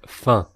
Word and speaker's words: enfin: Enfin is best translated as but well in that case, and note that it's frequently pronounced fin in spoken French, so dropping the first syllable like I did.